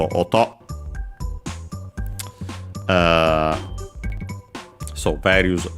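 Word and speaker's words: 音: for noise technically uh actually accented on the uh last syllable. So auto uh so various sounds noises uh then we have the uh subject particle cap.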